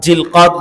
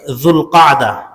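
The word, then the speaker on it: ذو القعدة: আদায় করি আলহামদুলিল্লাহ আজ জিলকদ মাসের জুলকদা এই মাসের আরবি উচ্চারণ জুলকদা আমরা জিলকদ বলি এই জুলকদা মাসের 19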